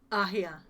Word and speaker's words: Ahia: So the first I is silent, essentially? Yeah, basically. It's like a Y, but you have to swallow it, so it doesn't really make much of a sound.